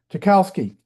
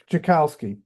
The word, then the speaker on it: Tchaikovsky: the famous music arranger, Tchaikovsky. I couldn't think of his name. Peter Tchaikovsky. You can't pronounce it the way it's spelled. If you pronounce the way it's spelled, it'll be completely wrong.